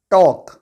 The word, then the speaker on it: talk: अब हमारे पास अगला एग्जाम्पल है टॉक। टॉक की स्पेलिंग है TALK। इस वर्ड में भी ए के बाद एल आया है, इसीलिए इस वर्ड को हम टॉक पढ़ते हैं, इसको हम टॉल्क नहीं पढ़ते हैं, क्योंकि ए के बाद जो एल आया है वह साइलेंट होता है।